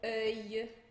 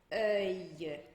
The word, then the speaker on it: œil: final da palavra, com œil, aille, eille, ouille. Vou dar alguns exemplos aqui. A gente pronuncia esse L como se fosse um I curtinho.